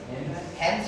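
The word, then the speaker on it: hands: washing your अब देखिएगा जब भी इंग्लिश में ए के बाद डी आता है ना तो डी 90 पर साइलेंट हो जाता है कितना परसेंट मतलब आप उसका लगभग प्रोनंसिएशन होगा ही नहीं तो अब बताओ इससे क्या पढ़ेंगे आप लोग हैंड्स हो जाएगा हेंस हो जाएगा यस ध्यान से समझिए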